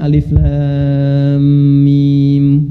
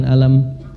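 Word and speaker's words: الم: benar Tahu dari mana bacanya Alif Lam Mim bukan alam karena dengar kan nah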